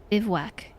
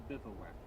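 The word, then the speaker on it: bivouac: Bewac, bewack. Encampment of soldiers. What? Bivwac is French. Bivwac. It's a French word.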